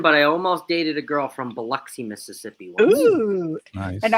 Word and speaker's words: Biloxi: I have never been, but I almost dated a girl from Biloxi, Mississippi once. Ooh. Nice. And I know you're telling the truth because you know how to pronounce Biloxi. Yep, Biloxi.